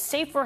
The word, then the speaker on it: SAFR: On Saturday, Mastery Charter will compete wearing what are known as safer helmet covers. That's spelled SAFR.